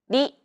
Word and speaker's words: り: transcribed as an R, don't pronounce it like an English R. Listen to how Risa pronounces this sound. り, It sounds like a mixture between an R and an L sound. り. Another way of pronouncing this sound is to think of the quick tapping motion your tongue makes as it strikes the top gum ridge in words like ladder or butter.